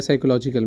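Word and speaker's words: psychological: साइकोलॉजिकल stress ठीक है P silent होता है साइकोलॉजिकल में अब साइकोलॉजिकल स्ट्रेस जो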